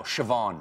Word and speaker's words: Siobhan: how do you think that's pronounced this want to know shavon shavon shavon ridiculous a lot of people say